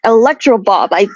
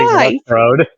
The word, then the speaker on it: Electrode: There's this one Pokemon they might restrict not having around, the electric type Pokemon Electro Bob. If I'm pronouncing it right, it's been a while since. That's what name is Electrode.